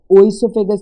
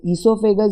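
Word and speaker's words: oesophagus: इसको ओइसोफेगस नहीं बोलते, इसको ईसोफेगस बोलते हैं। प्रोनाउंसिएशन ई से शुरू होती है, ओ साइलेंट होता है।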